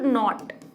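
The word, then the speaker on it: knot: तो ये जो जड़ों में रूट, इस बीमारी को कहते हैं रूट नॉट, के साइलेंट है भाई, है ना, नॉट, के को हम नहीं बोलेंगे, गुच्चा है मैं के से।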